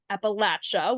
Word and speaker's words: Appalachia: And so Trisha, you track opioid settlement developments across the 13 states of Appalachia, which you're really great in telling me that I how to pronounce that, Appalachia.